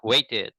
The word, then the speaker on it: waited: different, but in the real life, you speak waited. Really? Waited with a D.